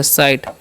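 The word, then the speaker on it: sight: इसी तरीके से एस आई एस क्वेश्चन स, आई क्वेश्चन आई तो हो गया साई, और जी एस का साइलेंट होता है, टी से ट तो हो गया साइट।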